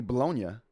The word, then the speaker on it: bologna: National Bologna Day or pronounced correctly, Bolognia.